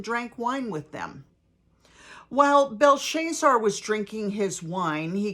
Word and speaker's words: Belshazzar: King Belshazzar, not Belteshazzar, Belshazzar, gave a great banquet for 1,000 of his nobles and drank wine with them. While Belshazzar was drinking his wine,